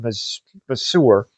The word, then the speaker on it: Masur: This of course is played by Richard Masur. I think that's how you pronounce his name.